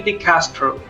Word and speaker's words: DeCastro: new guest for today say hello to Jerry decastro did I pronounce it correctly by the way yes yes